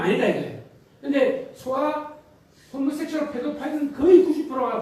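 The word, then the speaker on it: pedophile: 페도필리아라고 그러는데, 영어로는, 영어 자막에서 페도파일이라고 발음하는 걸 들을 수 있어요. 페도파일.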